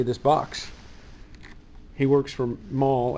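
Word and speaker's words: Mahle: box he works from mall I guess it's called pronounced mall and they make engine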